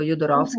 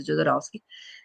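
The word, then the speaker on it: Jodorowsky: fra le altre cose o jodorowski in italiano io pronuncio alla alla francese jodorowski e tracciamo le diagonali di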